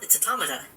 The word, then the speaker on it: automata: pronounce it correctly too it's like automaton it's a it's automata oh these are both